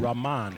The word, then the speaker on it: Rahman: Okay, I think we need to mention that number 3, Trent, the proper pronunciation of his first name is Rahman. Rahman.